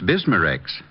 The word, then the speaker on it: Bismarex: B I S M A- R E X.